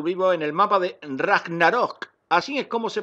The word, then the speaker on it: Ragnarok: estamos en arthur vivo en el mapa de ragnarok así es como se pronuncia al rap narok esta vez me ha